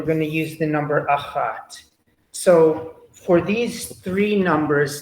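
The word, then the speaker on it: אחת: listen carefully um right we have Ahad with the dalit the D sound at the end for the masculine and then for the feminine it becomes ahat it's hard right right exactly right and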